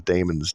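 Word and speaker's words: daemon: imagination that's what these Damons do ancient Greek pronounced Damon meaning God Godlike power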